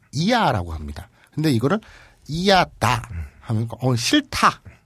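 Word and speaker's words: いやだ: 근데 이거를 이야다. 싫다. 뭐 그런 뜻이에요. 예. 근데 야다, 이야다, 이야다 이걸 발음을 빨리 하면 예. 야다 이렇게 되죠.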